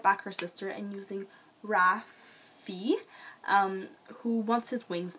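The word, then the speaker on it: Raffe: Rafi which I thought at first it was Raph but then I was skimming through certain parts of the book but it does mention that it's pronounced Rafi he gets his wings cut off he's basically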